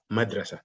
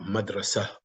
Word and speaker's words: مدرسة: Even though we put the dot, but we pronounce it hadiqa, wa madrasa. And wa in Arabic and madrasa. Madrasa is school, but also we stop madrasa. You hear the ha sound, madrasa.